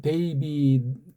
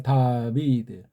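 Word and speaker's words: דוד: 왜? 다비드인데 미국 애들은 데이빗 그러고 우리는 다윗 그러는지. 다비드가 정확한 발음이에요. 다비드. 멜렉 이건 임금이잖아요.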